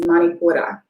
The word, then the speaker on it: Manipura: In Sanskrit, it is pronounced Manipura.